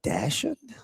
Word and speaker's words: dachshund: Wait, you have a Dachshund? Are those the wiener dogs? Yeah, dachshunds. No, he said Dachshund. That's how it's pronounced.